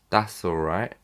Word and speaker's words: that's alright: me slow it down that's alright that's alright so - all right so I'm not pronouncing the t's here so that's alright so